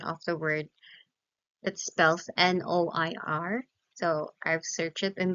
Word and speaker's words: noir: now students let me just correct um the pronunciation of the word that spells n o i r so I've searched it in the internet and it say it says that it is pronounced as Noir Noir okay it's Noir so last slide language is